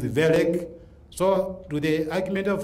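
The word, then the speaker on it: Wellek: So Wellick is spelled W-E-L-L-E-K. It is again a German name. You don't read it Welek, it is Welek.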